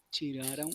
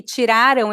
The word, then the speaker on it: tiraram: Porque o tempo verbal é diferente, Mariano. Este aqui, tiraram, está no passado e tirarão está no futuro. Por isso é muito importante a pronúncia. Se você está falando no passado, você precisa dizer tiraram. Se você está falando no futuro, tem que ser tirarão.